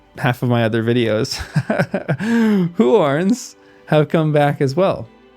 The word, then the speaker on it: Huorns: Huorns, which, I kept mispronouncing in half of my other videos, Huorns have come back as well.